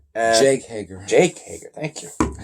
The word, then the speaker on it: Jake Hager: commentary with Santana, not Santana, or how you pronounce his name? Yeah, Inner Circle. It just got Jack Hager. Jake Hager.